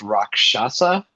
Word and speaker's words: Rakshasa: He is otherwise known as uh is it pronounced Rakshasa? Yeah, that's it. Rockshasa.